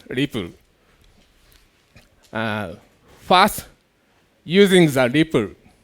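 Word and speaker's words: REPL: r in English uh in Japanese we pronounce it lepple uh but in this talk I call it lipple uh first using the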